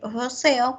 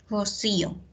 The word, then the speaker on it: rocío: Es incorrecto decir roceo cuando nosotros queremos decir rocío, ¿no?